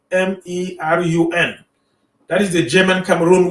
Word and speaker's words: Kamerun: So now Germany became the main colonizing power of the territory of the German Cameroon that is pronounced K, starting with a K, spelled as Kamerun.